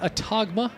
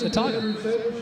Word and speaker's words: Autauga: it again my apologies I said a tog ma I I will I will be honest with you I have struggled with how to pronounce it but it's it's simpler than it seems it's just a talk you know Jeff yeah